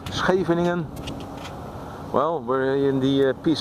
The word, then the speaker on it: Scheveningen: SCH, the first letters of Scheveningen, pronounced Scheveningen.